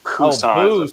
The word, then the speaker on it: Busan: I just joke B-U-S-A-N, Busan, but I say Busan. Busan. Because the joke is it's Busan with a B, B-U-S-A-N, but how you say it in Korean it's like a P, Busan.